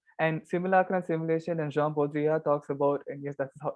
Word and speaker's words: Jean Baudrillard: And simulacra and simulation, and Jean Baudrillard talks about, and yes, that is how you say his name.